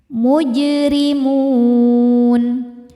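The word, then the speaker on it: مُجْرِمُونَ: Mujrimun. Huruf ra dibaca tarqiq karena harokatnya kasrah. Cara bacanya tipis.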